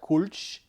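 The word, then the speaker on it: Kölsch: i apologize but i think it's more like kulch for the uh pronunciation and that's the only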